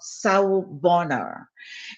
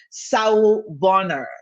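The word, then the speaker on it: sawubona: started with the show saul bonner you get used to pronouncing it it's a zulu word um so wherever that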